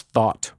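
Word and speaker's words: Thoth: Pantheon as th right also pronounce thought just like a thought inside your head uh in addition you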